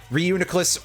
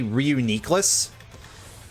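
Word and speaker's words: Reuniclus: Reunicless or apparently I've been informed that the actual pronunciation is supposed to be officially reunias and I dislike that immensely.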